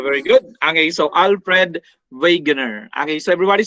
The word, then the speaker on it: Wegener: good okay so alfred wegener okay so everybody say it once again veganer the w is pronounced as v and it's common for german words okay that's usually for